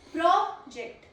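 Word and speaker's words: project: First pronunciation is प्रोजेक्ट। प्रोजेक्ट प्रोजेक्ट इट इज़ a noun because of the first level stress.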